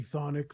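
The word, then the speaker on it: Chthonic: I'm Thonic. The CH is silent.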